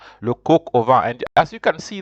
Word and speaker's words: coq au vin: The coq, C-O-Q, is joined with O. That's why you'll hear something as if it is pronounced, all of it is pronounced together, le coq au vin.